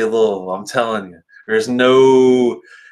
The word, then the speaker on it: Louisville: If you're from Louisville, you say Louisville.